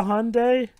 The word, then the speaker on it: Hyundai: No, wait, you have a Hyundai? Yeah. Oh, also, it's pronounced Hyundai, Dwibs, not Hyundai. It's Hyundai.